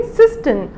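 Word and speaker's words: cistern: क्या बोलते हैं सिस्टम सो आप इसको आर को साइलेंट कर देंगे इसको आर को आप प्रोनाउंस नहीं करेंगे तो क्या बोलेंगे सिस्टम दें सेकंड इस दिस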